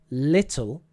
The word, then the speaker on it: little: Because actually the at the start is a different sound than the at the end. It's slightly different. If you listen to little, you can hear at the start and then tul, so it's different. Little. So it's just the L at the end and in the middle that's changing to a ooh, right?